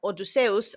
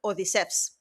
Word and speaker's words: Odysseus: His name would have been pronounced in ancient Greek something like Odusseus, unlike modern Greek, which is more like Odysseas.